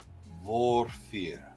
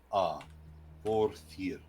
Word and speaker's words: Vorthir: I'm going to call it Vorfir. I am going to ask you to spell that. So, VOR. Yep. THIR. Vorfir.